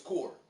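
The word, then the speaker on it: Kur: I think it's Core. I don't want to say Kerr, it's spelled K-U-R. But I think it's Core.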